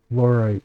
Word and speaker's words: fluorite: And then I also need fluorite block. Now, fluor... Wait, did I spell it wrong? Hold on. Might have spelled it wrong. Flu or I. Okay. So it's flu, not floor.